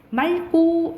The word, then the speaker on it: 맑고: 근데 이거 리을 기역 뒤에 기역이 오잖아요. 그러면 그냥 연음된다 생각하면 돼. 그럼 뭐로 발음나는 거야? 맑고 이렇게 되는 거예요. 맑고.